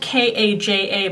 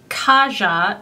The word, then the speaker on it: Kaja: It's spelled K-A-J-A, but it's not Kaja, it's Kaja.